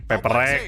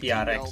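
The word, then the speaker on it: Paper Rex: Kan PRX itu emang singkatan dari Paperek gitu. Nggak, emang dibacanya mereka nggak PRX. Enggak, dibaca ya kadang PRX, kadang Paperek.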